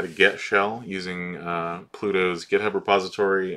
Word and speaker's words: 5hell: using uh Pluto's uh shell tool um and that's it's pronounced shell but it's it's uh you know instead of the S it's a five so it's it's five